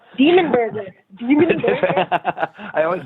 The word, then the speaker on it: Dimmu Borgir: Dimmu Borgir. Demon Burger. Demon Burger. I always say that name wrong.